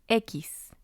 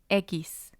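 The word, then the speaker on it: equis: to look at the letter x and it's pronounced ekis ekis this letter has a few sounds and we'll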